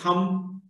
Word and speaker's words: thumb: the combination, MB combination, wherever this MB combination is there, the B is not pronounced. It's thumb, dumb, climb, climber, womb, tomb, limb, bomb, plumb, plumbing, plumber.